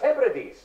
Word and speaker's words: Hebrides: It's pronounced Hebrides.